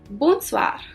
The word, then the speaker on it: bonsoir: all the time so let me repeat the pronunciation it's bonjour then we have bonsoir so as you can look in the picture